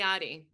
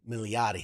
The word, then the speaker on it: Milioti: Oh my god, I can never pronounce her last Kristen name. Milioti. Milioti, thank you.